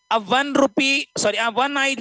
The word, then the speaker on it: one-eyed: A one-eyed woman, a university. These are first letter vowel, but they give the sound of consonant.